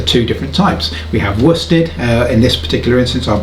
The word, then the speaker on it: worsted: but it's actually pronounced wusted that's because it's one of those strange british words that's not pronounced in the same way that it is spelt kind of like worcestershire